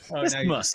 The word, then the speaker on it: isthmus: There's an extra syllable in there. It's the muse. Isthmus is what I'm going to go with.